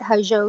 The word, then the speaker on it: Hozho: They can connect with us on Facebook and on Instagram at Hajo Total Wellness. Okay. And can you spell it? Because I know it's doesn't sound the way it's spelled. Sure. Hajo is spelled Hozho.